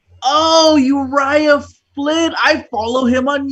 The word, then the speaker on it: Uriah: I'm like, oh, Uriah Flint. I follow him on YouTube. I just never heard him say his name before. I thought it was Urija.